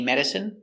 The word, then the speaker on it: medicine: Stress on the first syllable.